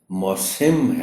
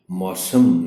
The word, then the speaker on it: موسم: دیکھ رکھا ہو کہ اس لفظ کا تلفظ موسم ہے، موسم نہیں۔ چونکہ ہم نے عام